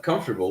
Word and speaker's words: comfortable: So in the case of comfortable, we do not say the O, right? But what happens is the R changes the order and it goes to be pronounced like der.